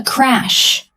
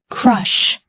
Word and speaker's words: crush: Crush. Crush. Crush. Now, let's compare. Crash. Do you hear it? Crush is soft. Crash is loud and explosive.